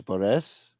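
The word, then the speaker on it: Barese: If you're from Catania, you're Catanese. My grandmother was from Bari, so she's Barres. Oh wow, you're Barres, yeah.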